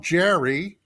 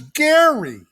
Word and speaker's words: Jerry: Always refers to as Jagary, because everybody wants to call him Jerry, and he's always saying, no, my name is Gary, even though it's spelled Jerry.